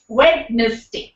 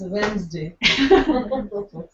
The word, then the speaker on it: Wednesday: iron wow data or data well the correct pronunciation is data W wedes day it's Wednesday absolutely so though I think half our lives